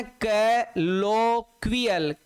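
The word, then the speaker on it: colloquial: लक्वियल, कैलोक्विकल है ना, कैलोक्वियल, कैलोक्वियल, कैलोक्वियल है ना, कैलोक्वियल, इस तरीके से इसको हम पढ़ सकते हैं बेटा, लो क्वी और अल है ना, इस तरीके से ये इसका प्रोनाउंस है सर, क्लोक्वियल, क्लोक्वियल, कैलोक्वियल, कैलोक्वियल, कैलोक्वियल, कैलोक्वियल, कैलोक्वियल।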